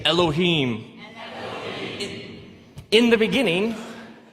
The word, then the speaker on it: Elohim: it would look something like this and it's pronounced Elohim let me hear you say Elohim in the beginning Elohim created the heavens and the earth now the